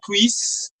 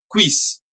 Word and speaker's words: cuisse: Okay, so the pronunciation is a little different. It's V. It's a very fine pronunciation. V. Quiz. Quiz. Okay, like V. Like this way we pronounce it. Okay, it's quiz. Quiz. Try to follow the position of my lips.